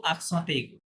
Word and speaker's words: accent aigu: তখন ওরা কিভাবে পড়ে, ওরা বলে ও আকসাঁতে এগু, আগে লেটারের নাম বলে, তারপরে আকসাঁ এভাবে বলে দেয়, হ্যাঁ, ও ওকে, আকসাঁতে এগু।